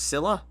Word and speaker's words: Scylla: It's pronounced Scylla.